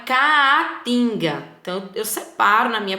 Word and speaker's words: caatinga: Então, o A fica separado, porque até na pronúncia também ela separa, ó. O nosso bioma é caatinga.